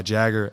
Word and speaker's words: Jager: And then I'd be like, I actually go by Jager. And then they'd be like, Jager. And I'm like, I just said Jager.